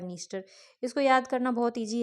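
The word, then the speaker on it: Dniester: है Danube don नाइप नाइप है पर आगे डी लगा हुआ है निस्टर है पर आगे डी लगा हुआ है ठीक है मतलब डी साइलेंट है तो डेन्यूब डॉन नाइप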